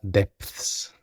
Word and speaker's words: depths: Es importante no reducirla incorrectamente a algo como depths o depths. Tenemos una Z de por medio, una Z, como en el español castellano, donde se localiza entre la P y la S. Entonces tenemos dep al principio, después la Z y después la S. Depths.